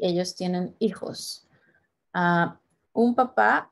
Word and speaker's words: papá: If you have an accent on the second A, papá versus papa.